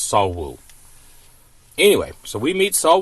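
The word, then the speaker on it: 석우: It's pronounced S E O K or it it's spelled S E O K, but it's pronounced Saul Woo.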